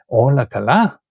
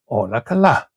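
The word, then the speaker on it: Όλα καλά: And see how the tones change here, right? When you ask a question in Greek, you have to really lift your voice at the end. Ola kala? Ola kala. And the voice goes down again when you answer the question, right?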